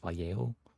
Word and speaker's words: Vallejo: know I know it's written valo but it's pronounced valo if you can pronce it correctly apparently okay